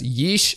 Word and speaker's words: Ys: Apparently Wikipedia said that it's pronounced as yeesh, as in yeesh, that mostly negative Steam page.